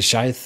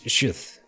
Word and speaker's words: sheath: I say did I say scythe? It's sheath.